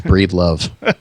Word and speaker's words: Breedlove: it's spelled but yeah it's it's 100% how it's spelled which is kind of awkward to say but yeah it's breathe love all right I was